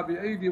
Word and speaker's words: بأيد: كذلك مثلا جاءوا إلى قوله تعالى والسماء بنيناها بأيدي وإنا لموسعون، رسمت بياء عين وتنطق بياء واحدة بأيد.